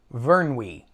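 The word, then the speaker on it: Vyrnwy: And the lake is called, let me pronounce it, Vernwy. Vernwy.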